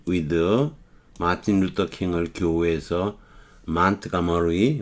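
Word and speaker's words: Montgomery: 동료인 짐 파머를 to meet with 마틴 루터 킹을 교회에서 몬트가머리, 우리가 흔히 몽고메리라 그러죠. 알라바마주 몽고메리에서 영어는 T로 발음을 하대요. 몬트가머리 이렇게 발음해요.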